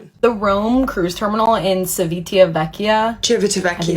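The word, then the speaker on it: Civitavecchia: The Rome Cruise Terminal in Cevitia, that's how you say it, is literally the worst cruise port I've ever been to.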